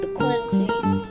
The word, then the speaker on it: P-quency: It's like frequency, but P-quency.